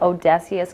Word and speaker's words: O'Desious: is the owner of Odysseus Custom Designs I said did I say it right yep I said it right okay I just got